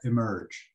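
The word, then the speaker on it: EEMRG: ontario for obvious reasons you pronounce that emerge ah okay for obvious reasons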